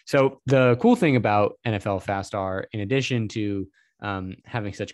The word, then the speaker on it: nflfastR: nfl stuff that is nfl fast r or at least that's how i pronounce it i guess you could say nfl faster this is an amazing